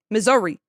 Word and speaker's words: Missouri: So it's misery. Missouri.